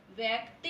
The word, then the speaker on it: व्यक्ति: उच्चारण को देखिए, व्यक्ति, इसमें आधा व है और आधा क आया हुआ है, ठीक है?